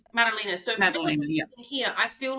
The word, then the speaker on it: Madalina: So, if I was It's Molina, correct? That's the right pronunciation. Malina.